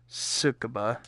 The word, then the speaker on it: Tsukuba: Yeah, Tsukuba. There we go. That's how you pronounce it.